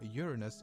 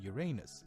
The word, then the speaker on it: Uranus: Both pronunciations are correct, by the way, but astronomers and most of the scientific community seems to prefer Uranus over Uranus.